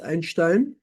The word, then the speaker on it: Einstein: or in einstein's notation einstein was German so it's pronounced einstein t prime kl equals